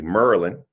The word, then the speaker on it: Maryland: or let me say it correctly, Merlin. You know how y'all say Merlin, like y'all Yeah, say it.